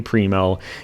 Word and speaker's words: Primo: For some reason, almost every German skater I come across pronounces the I as in rhino.